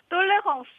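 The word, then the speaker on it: tolérance: 역시 자 박수진 님 우선은 말이죠 똘레랑스를 원어 발음으로 좀 한 번만 해 주세요 똘레 홍스 래스 래스 역시 아 뭔가 이렇게 파리 바게트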